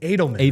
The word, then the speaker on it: Adelman: couple months in like, oh yeah, it's Adelman. That's how you say it.